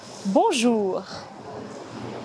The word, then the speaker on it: bonjour: Pour prononcer le R français, on peut s'entraîner à imiter le rugissement d'un tigre. On peut s'entraîner à dire ce son en le raccourcissant de plus en plus. Bonjour. Bonjour. Bonjour.